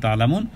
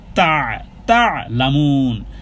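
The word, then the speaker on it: تعلمون: সাকিন ডানে পেশ, আর আইনের উচ্চারণ গলার মধ্যখান থেকে করতে হবে। তা আইন, আইন আইন, তা'লামুন না, কিন্তু তা'লামুন। কাল্লা সাউফা তা'লামুন, তা'লামুন, তা'লামুন, আইন গলার মধ্যখান থেকে, তা'লামুন।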